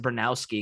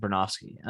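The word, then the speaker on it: Bronowski: I used to pronounce it Bernowski because that's how it's spelled, but I think it's pronounced Bernofsky.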